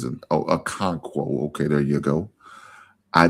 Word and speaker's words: Okonkwo: I think it's how he pronounce it. Oh, Okonkwo.